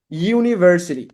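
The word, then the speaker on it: university: যেমন আমরা যদি ইউনিভার্সিটি শব্দটা উচ্চারণ করি, দেখেন, ইউনিভার্সিটি, ইউনিভার্সিটি, look at this. আমরা ইউনিভার্সিটিকে যদি আমরা উচ্চারণ করি, তাহলে দেখেন ইউনি, আমার এখানে বর্ণ রয়েছে ইউ, কিন্তু বাংলায় ধ্বনি এসেছে কয়টা দেখেন তো? দুইটা, একের অধিক।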